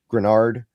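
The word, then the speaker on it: Greenard: Grunard. I know it's not pronounced how it's spelled, but Iard Granard.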